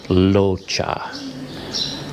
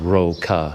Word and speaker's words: Rocha: a thai name and it's not pronounced with an r sound it actually has more of an l sound so it's more like locha so it's not roka at all in fact